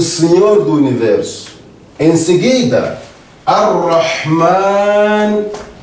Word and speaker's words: Ar-Rahman: Meu irmão, minha irmã, aqui, nestes dois nomes, Ar-Rahman, Ar-Rahim, tal como você pode notar na pronúncia, Ar-Rahman, Ar-Rahim, são duas palavras com significados diferentes, mas com a mesma raiz.